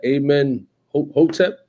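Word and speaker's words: Amenhotep: Amen Hotep? That's how you pronounce it.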